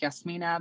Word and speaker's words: Jasmyne: well, by the way, because I kind of say Jasmine, but it's Yasmina, but it doesn't really matter.